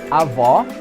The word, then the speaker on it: avó: So let's remember, avó with an open O sound means grandmother, and avó with a closed O sound means grandfather.